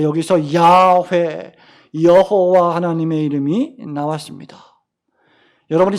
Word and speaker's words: 야훼: 여기 야흐웨라는 이 단어는 입술과 혀로 발음되는 단어가 아니라 마치 코로 숨을 쉬듯이 발음되는 야훼, 이렇게 발음되는 그런 단어입니다.